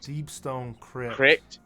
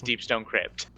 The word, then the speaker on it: Deepstone Crypt: third suppressor deep cck deep Stone CP cck yeah I mispronounced that horribly but yes deepstone Crypt yeah no one wants